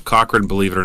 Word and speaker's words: Cochron: The pronunciations are correct. Most people actually really screw up Cochron, believe it or not.